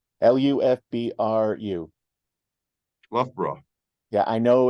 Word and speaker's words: Loughborough: the field in and I'm sorry I can't pronounce the name of the city the Loughborough l-u-f-b-r-u Loughborough yeah I know it's l-o-u-g-h-b-o-r-o-u-g-h I got it